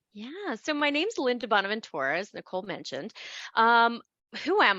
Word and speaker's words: DiBonaventura: Yeah, I pronounce it a little bit Italian, I think.